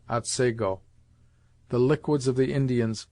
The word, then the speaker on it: Otsego: Thus the scene of this tale is spelt Otsego, and is properly pronounced Otsego.